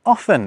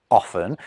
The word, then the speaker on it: often: The T in offen is another good case of this. Queen Elizabeth I supposedly pronounced it often, but as early as